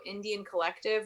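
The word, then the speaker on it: NDN Collective: There's also Indian Collective, which is spelled NDN and then collective as in the letters.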